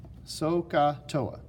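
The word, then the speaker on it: SOHCAHTOA: And that made-up word is the word so, H is silent, ka, H is silent, toa, so, ka, toa.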